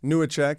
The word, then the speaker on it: Newacheck: Am I saying it right? Newacheck? Yes, you are. Okay, great, because it's Polish. It's like Czechoslovakian. Okay, all right, close enough, Yeah, right? yeah. Furry hats. Newacheck.